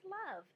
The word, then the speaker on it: love: Dove rhymes with love.